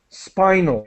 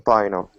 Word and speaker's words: spinal: uh excellent job though spinal with an i sound spinal spinal and designed designed another